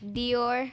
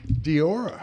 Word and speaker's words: Dior: Dior. Diora. Okay. Did I say it correctly? Yes. Diora? No, Dior. Dior. Like the purse, right? The fashion, right? Like Christian Dior, huh?